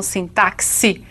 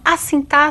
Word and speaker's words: sintaxe: sintaxe e assim mesmo que se pronuncia assim tá sei não sim táxi com alguns querem né Então assim tá se trata de que